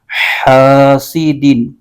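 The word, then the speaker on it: حاسدٍ: کی آواز آئے گی۔ تو اس کے ہجے یوں کریں گے، حا الف زبر حا، سین زیر سی، حاسی، دال دو زیر دن، حاسدین۔ حمزہ کے نیچے زیر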